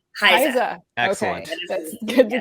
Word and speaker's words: HISA: Is there an official way of pronouncing the acronym for it? It is HISA. HISA.